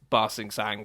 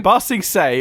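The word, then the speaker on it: Ba Sing Se: they've been bigging up basting sang for i'm sure i didn't pronounce that right so close it was just the last letter say not basting saying fasting say they've been busting say unless he's going on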